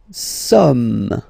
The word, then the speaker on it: sommes: Nous sommes, okay? Nous sommes, okay? So you don't pronounce the final S here. It doesn't exist.